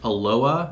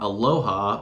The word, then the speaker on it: Aloha: let's talk about Aloha so yes it is pronounced Aloha not Aloha although it is spelled aloha a-l-o-h-a aloha is